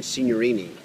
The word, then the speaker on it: Signorini: I have the privilege of spending time today with Eugene Signorini.